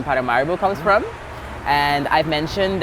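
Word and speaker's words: Paramaribo: by true colonization uh there's been a complete let's just say misinterpretation of what the name is or how it's supposed to be pronounced and it's it changed from paramoro paramorbo to paramario. Okay.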